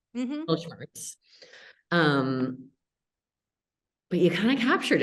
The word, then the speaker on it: Mittelschmerz: The closest thing I could get to was, you'll have to correct my pronunciation, but the German middle pain word. Mittelschmerz. Mittelschmerz.